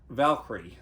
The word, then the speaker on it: Valkyrie: would recommend this movie chris how do you pronounce this valkyrie valkyrie okay this came out maybe about eight years